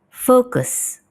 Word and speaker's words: focus: Focus atau focus. Ya, kalau dalam British lebih ke focus. Kalau US, focus. O-nya lebih terdengar ya. Focus. Kalau British tadi focus.